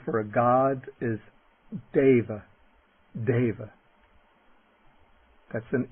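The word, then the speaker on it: deva: The e is pronounced like the a little bit like the a y in the word way. Okay. The word for a god is da. Dava. That's an e. Dava.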